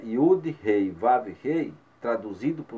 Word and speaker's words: Yud: Essa, inclusive, eu pronunciei Yud. Tem muitos que falam Yad, outros falam Iod, mas é a mesma letra.